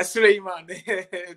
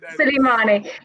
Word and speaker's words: Souleymane: So Souleymane, have I pronounced your name correctly? Yeah, Souleymane. Souleymane.